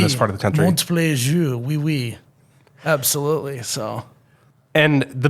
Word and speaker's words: Montplaisir: Joining me today on the podcast is Montplaisir. Do I have the pronunciation right? You got it right.